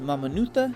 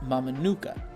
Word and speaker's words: Mamanuca: learned from the crew that it is actually pronounced mamuta not mamuka this family Run Tour departed from Deno Island